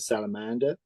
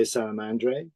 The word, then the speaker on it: Salamandre: know it's a salamander so you could call it salamander you could say salamandre but effectively you know